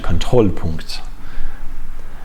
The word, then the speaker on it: Kontrollpunkt: the correct pronunciation are Kontrollpunkt. Usually German has the stress at the beginning unless it's a prefix, so I would have guessed Kontrollpunkt, but it's actually Kontrollpunkt.